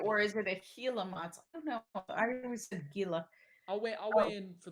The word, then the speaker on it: Gila: with a Gila monster Gila I'll wait I'll wait for the commenters I know the river is pronounced Gila but I don't know that